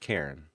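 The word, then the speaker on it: Charon: It's pronounced Karen.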